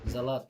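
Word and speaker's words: Salat: ডাস গেমুজে সবজি য়ার সালাদ জালাত জন্মত উচ্চারণ হবে জালাত জালাত মানে সালাত বোকা ঠিক আছে এখন আসি আমরা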